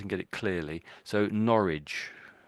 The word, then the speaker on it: Norwich: So, Norwich. Norwich. So, the W you could say is silent really.